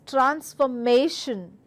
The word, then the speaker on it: transformation: So, you are supposed to stress on M-A. So, it is transformation, transformation, transformation.